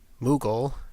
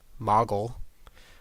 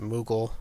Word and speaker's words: Moogle: The first one here is Moogle, which is how I would pronounce it. Others may disagree. The second one is Moggle. I pronounce it Moogle, so I'm going to